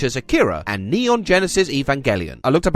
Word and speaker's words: Evangelion: a legacy such as akira and neon genesis evangelion i looked up how to pronounce this and they said it was evangelion